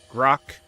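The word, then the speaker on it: Grok: Grock is the one I use. Plus, it rhymes with Brock, right?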